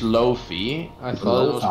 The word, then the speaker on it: lo-fi: Is it pronounced Lofi? I thought it was pronounced Lo-Fi. Yeah. Oh, yeah, no, it's Lofi in Dutch, but Lo-Fi in English, yeah.